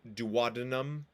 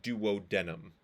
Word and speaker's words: duodenum: duodenum or Duo denim I prefer pronouncing it as duodenum uh that's what I was taught there are some people that will pronounce it as Duo denim um then we go